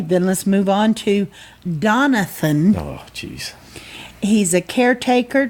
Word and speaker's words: Donathan: getting his name wrong it's Donathan not Jonathan not Donovan so he's very adamant about